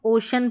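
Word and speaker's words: ocean: फिर भी यह अलग से आपको याद रखनी है कि इसको हम ओशन पढ़ते हैं।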